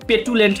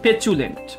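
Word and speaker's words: petulant: ক্রোধপূর্ণ yes correct so এটাকে আবার আপনারা আবার পেটুলেন্ট কইরেন না এটা হচ্ছে পেচুলেন্ট ওকে এটা কিন্তু চু উচ্চারণ হবে প্যাচুলেন্ট আচ্ছা তারপরে যেটা বলা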